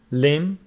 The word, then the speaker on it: limb: And B after M is not pronounced. Thumb, limb, lamb.